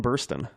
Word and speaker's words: Burstyn: way you pronounce them it's always been Ellen Burstyn like the way it's spelled yes I've never said